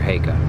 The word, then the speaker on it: Heikka: how do you I'm in that pronounce school his right now. name? Mr. Heikka. Mr. Heikka.